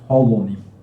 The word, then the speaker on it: holonym: Maybe I am not able to type, but it is called or pronounced as holonym, that comes from whole or being whole.